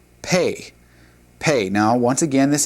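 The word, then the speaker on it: פ: And then the letter after is pronounced pay.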